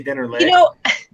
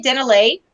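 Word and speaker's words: Dennerle: calendar and also a Dennerla towel or an aquarium plant guide from Denner. How do you say it? You don't say Dennerla. You say Dennerla. I go between. I say Dennerla because I hear videos and I hear other people.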